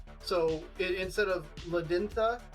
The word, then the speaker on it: Ladenia: Is the D in your name a hard D, or is it like the Spanish D, which is pronounced kind of like a TH? So instead of Ladintha, it's Ladintha.